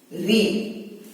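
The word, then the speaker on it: ऋ: अ, आ, ई, उ, री। रू नहीं कहते इसे, री। रू कन्नड़ में कहते हैं।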